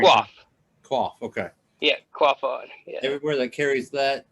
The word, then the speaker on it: Quaff On: How do you pronounce Yeah. it? I butcher it every Quaff. time. Quaff. Okay. Yeah, Quaff On.